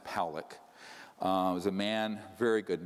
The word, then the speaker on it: Pollack: This man, William Pollack, his name is pronounced Pollack.